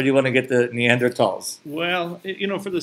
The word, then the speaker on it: Neanderthal: where our neanderthal friend so it's neanderthal I think so not me and earth all I I think that's the pronunciation that people like to use these days okay and so now